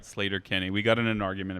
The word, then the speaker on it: Sleater-Kinney: flight of the conchords later kini The Shins pronounced it right sleater-kinney we got in an argument about that not too long ago that it's pronounced sleater-kinney and not sleater-kinney anyway I would love to be around for